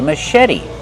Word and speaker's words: machete: The first syllable is a relaxed sound like cupping up. Mush. Machete. The CH makes the soft sh sound like shoe. Machete. Put the stress on the second syllable and make the vowel like red in bed. Machete. And the T is a fast T because it's between vowels.